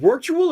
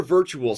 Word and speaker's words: Wirtual: Is it Wirtual or virtual? Spell it correct. Let's listen in. It's Wirtual. He has a W in the beginning to indicate that he wins a lot, but not this game, maybe.